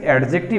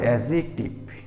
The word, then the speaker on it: adjective: আমরা লোকালি অনেক students অ্যাডজেক্টিভ বলে থাকে, আসলে অ্যাডজেক্টিভ না, উচ্চারণটা হবে অ্যাডজেক্টিভ, ডি উচ্চারিত হবে না।